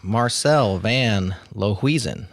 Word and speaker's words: Marcel van Lohuizen: Marcel van Lohuizen.